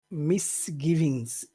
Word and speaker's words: misgivings: the word misgivings because I think we have to emphasize two syllables. Which two syllables do you think we should emphasize? So it's a misgivings.